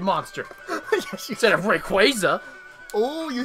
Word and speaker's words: Rayquaza: Yes, you instead of Rayquaza.